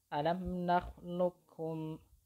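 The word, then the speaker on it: ألم نخلقكم: Di situ huruf qaf yang berharokat sukun itu sudah tidak terbaca lagi atau tidak dibaca alam nakhluqukum, bukan seperti itu. Huruf qaf yang berharokat sukunnya itu tidak dibaca alam nakhluqukum, bukan seperti itu, tetapi langsung dileburkan ke huruf kaf yang di depannya.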